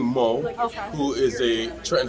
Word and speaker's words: Mu: it spelled mu but she actually pronounced it moe i think moe okay who is a